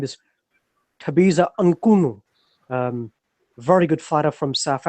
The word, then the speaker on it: Mchunu: The correct way of pronouncing his name is Thabiso Mchunu.